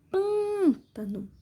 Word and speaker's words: pântano: Pântano. Sílaba mais forte é o pã, som fechado, acento circunflexo.